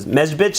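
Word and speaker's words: Medzhybizh: the town of Mezbitchitz, or Mezbitchitz is one of those words that's always hard for us to pronounce, but Mezbitch, as a lot of people call it.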